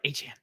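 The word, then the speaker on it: Achane: like, pronounce it right. Achan.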